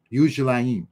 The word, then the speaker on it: Yerushalayim: Yerushalayim, right? That's how you say it in Hebrew, which replaced the camp in the wilderness.